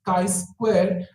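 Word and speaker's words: chi-square: be applied K Square test is written as Kai square and is pronounced Kai squar that is I Square it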